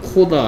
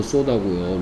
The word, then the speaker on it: soda: 성모 오늘 했는 거 정리해보면 일단 코다 아니고 소다고요.